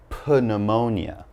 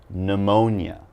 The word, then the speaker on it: pneumonia: not going to say put pneumonia okay the P is silent so all I'm gonna say is pneumonia okay and pneumonia is